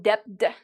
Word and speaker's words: debt: I did not pronounce the B because when you have B and right after T, usually you don't pronounce the B.